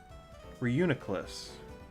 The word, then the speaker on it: Reuniculus: Reuniculus. That's how you say it.